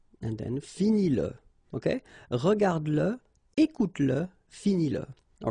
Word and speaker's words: finis-le: Remember that if you've got, in some situations, the pronoun le, and if it comes after your verb, like in that case, then you will have to pronounce it. Okay, so regarde-le, regarde-le, all right, regarde-le, écoute-le, okay, écoute-le, so here you pronounce it, and then finis-le, okay,